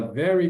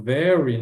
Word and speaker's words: very: This is a very good book. A pronúncia aqui do veryy, né? No u parece que tem no R aqui parece que tem um u antes do R.